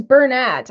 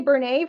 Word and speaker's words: Bernat: the word Bernat is Burnette I know it's not actually French if it was French